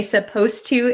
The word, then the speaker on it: supposed to: to when we say supposed to it sounds like the d disappears but it's actually still there so be careful with